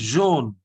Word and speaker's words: jaune: then jaune. Jaune. Jaune. Not June. It is jaune.